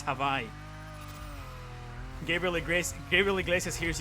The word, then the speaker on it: Hawaii: I don't speak a lick of Hawaiian. Havai, by the way, it's Havaii.